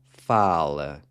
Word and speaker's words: fala: say ele or ela fala. So here, you're just replacing the AR with an A, and that A is pronounced like the A in the words Cuba or sofa.